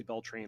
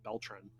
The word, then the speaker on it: Beltran: belt uh beltran beltrain i always say bell train that's not how to say it beltran um he gets top